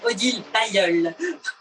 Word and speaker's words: Odile Bailloeul: Oui, Odile Bailloeul.